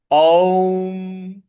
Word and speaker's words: ओम: ओम जो ओम है इसमें अ, उ और म इन तीनों का समावेश है। तो इसको उसी प्रकार से उच्चारण करना होता है। ओम ओम इस प्रकार से इसको बोला जाएगा।